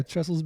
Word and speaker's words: Trestles: But yeah, so we actually, to catch up, we went to Trestles. Yes. Am I saying it correctly? Yeah, Trestles Beach in San Clemente.